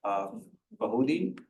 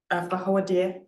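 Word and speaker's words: Fawohodie: Is it pronounced Bahudi? Fahodia.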